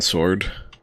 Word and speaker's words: sword: Did you just pronounce the W in sword?